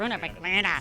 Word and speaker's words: Grüner Veltliner: You gotta say it like that with your face. You gotta go, Grüner Veltliner. Sounds like an illness, you know.